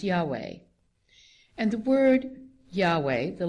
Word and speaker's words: Yahweh: by the initials YH wh which today we pronounce Yahweh and the word Yahweh the linguists tell us